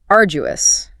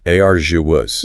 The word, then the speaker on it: arduous: Next one is arduous. Arduous. Yeah. Stress on the first syllable, and that sound is quite soft, like a J.